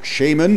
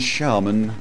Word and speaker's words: shaman: But Shaman and Shaman are both acceptable pronunciations of the word.